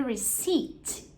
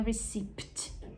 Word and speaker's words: receipt: So, here's the receipt. Receipt. Esse P é mudo, tá bom? Então, a gente não vai pronunciar esse P aí, não é receipt. Não, é receipt.